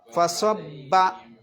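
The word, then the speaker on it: فَصَبَّ: ഓതണ്ട എന്നർഥം പിന്നെ ഫസ്വബ്ബ അവിടെ ശ്രദ്ധിക്കേണ്ടത് സ അല്ല സ്വ ല്ലേ ഫസ്വബ്ബ ആ ബാഹ് ശക്തി കൂട്ടി ഓതണം ഫസബ അലൈഹി പിന്നെ റബ്ബുകാ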